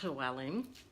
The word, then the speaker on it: Llewellyn: His last name is Llewellyn with 4 L's, so it's pronounced Llewellyn, which is my middle name.